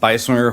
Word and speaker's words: Beiswenger: Thanks for pronouncing my name correctly. I always appreciate that. My name is Beiswenger, Horseshoe Bend, Idaho, representing District 8, which covers